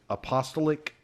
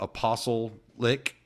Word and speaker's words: apostolic: was raised in a, I always say this wrong, apostolic church. I think that's how you say it. Apostolic, yeah. Yeah, there you go. I always want to relate it to apostle-lick, I don't know.